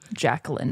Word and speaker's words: Jacqueline: And that's how we're pronouncing the first name, Jacqueline.